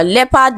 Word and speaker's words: leopard: Now leopard, letter EO is pronounced as E, just as we have in bread, but AR has the schwa sound E.